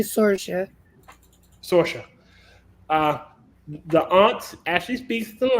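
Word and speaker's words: Saoirse: You know, the people of my great-grandfather's origin pronounced it Cersei. The aunt It's actually Sorsha.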